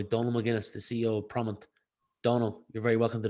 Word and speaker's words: Prommt: So Yeah, it's not a real word, but it's obviously a play on the word prompt.